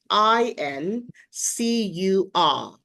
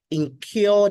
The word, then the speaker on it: incur: And the word is I N C U R. Sometimes people mispronounce this word as incure. Incure the depths.